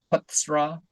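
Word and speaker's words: Bozrah: For God is verb and noun, holds a sacrifice in Boza. Putsra is how that's pronounced.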